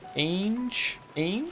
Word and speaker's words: Ange: say that an is pronounced the same as the English word Angel without the L Angel Ang a so we're all wrong